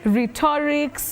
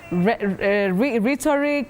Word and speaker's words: rhetoric: particular word Willis bet the problem is many people say re mhm rhetorics M rhetorical no the first e in that word that is after H takes the midf front sound e you say re not re rhetorics okay rhetorics rhetorics